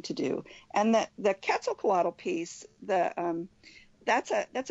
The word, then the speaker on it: Quetzalcoatl: because I I wanted to know how to pronounce that it starts with the Q it's Quetzalcoatl and your bird it's a FET it's a